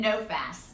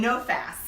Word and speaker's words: NOFAS: do I say the acronym of yours and know fast and know fast okay thanks and I wasn't sure how to